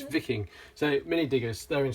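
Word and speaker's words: Wiking: It's because it's German and it's pronounced W, so it's pronounced with a V. So it's Viking.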